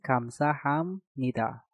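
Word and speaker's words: 감사합니다: Lagi-lagi biopnya harus kita rubah menjadi miem. Maka cara pengucapannya menjadi kamsa hamnida.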